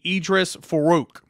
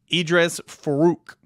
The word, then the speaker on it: Edrees Farooq: the high school ranks and three stars safety Idris farook and that is how you say his name Idris faruch and uh it's it's it's looks really funky whenever you read it but Idris Farooq is how you say it a three-star safety